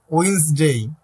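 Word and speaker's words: Wednesday: ওয়েটনেসডে Thursday first তাহলে এইটার উচ্চারণ কিন্তু ওয়েটনেসডে না উইনসডে হ্যাঁ তারপর কি বলোসডে থার্সডে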